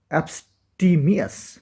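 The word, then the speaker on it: abstemious: এইবার আমরা যে ওয়ার্ডটা দেখবো এখানে, উচ্চারণটা দেখে নাও। অ্যাবস্টিমিয়াস, অ্যাবস্টিমিয়াস, অ্যাবস্টিমিয়াস, অ্যাবস্টিমিয়াস, এটা কিন্তু অ্যাডজেক্টিভ, মানে সংযমী বা মিতাহারি।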